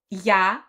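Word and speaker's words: ѧ: Omega Omega this is little use and it's pronounced yah and they were also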